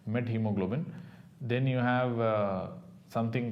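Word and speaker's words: methemoglobin: met hemoglobin I mean many people pronounce this as meth hemoglobin actually it's not meth hemoglobin meth hemoglobin is different this is what we have to have something called a met hemoglobin then you have uh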